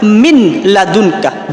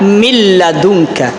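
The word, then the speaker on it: مِنْ لَدُنْكَ: bertemu dengan Islam maka kita jangan membacanya seperti Min ladunka jangan tapi kita baca milladunka Saya ulangi milad udah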